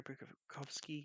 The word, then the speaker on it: Burakovsky: It's and the Burakovsky, Andrei Burakovsky, yeah, that's right.